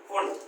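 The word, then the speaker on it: Pfund: Ultra, ये जो Lyman होता है, Lyman, common, Palmer, Palmer, pasture, bracket, फुंड, इसको पी साइलेंट एस में फुंड बोलते हैं।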